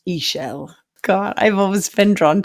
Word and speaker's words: Ixchel: Her name is actually pronounced Ixchel.